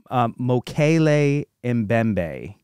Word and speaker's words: Mokele-Mbembe: Roy Mackal, he says it's pronounced Mokele-Mbembe.